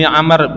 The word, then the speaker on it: Amr: Tapi kalau belakangnya ada waw, itu Amr bacanya. Tapi kalau nggak ada wawnya, Umar.